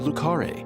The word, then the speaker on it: Le Carré: First up, we see numerous shots of Le Carré, which, thanks to York's narration, I know how to properly pronounce. Then come on down to Le Carré, a cozy rural town in the great state of Louisiana.